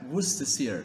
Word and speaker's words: Worcestershire: used in food yep you heard that right Worcestershire that's how we pronounce it correctly x x is for xenophobia